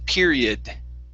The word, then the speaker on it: period: you said period okay it's pure period period okay now the o we actually don't say odd here it's going to be a short i sound period period period one